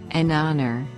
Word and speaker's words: honor: like the word you an hour an heir an honor and not a is used because the consonant h in these words is not pronounced nouns plural nouns nouns